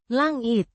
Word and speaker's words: langit: Langit. With the Lang. as in, language, and a short, it, sound.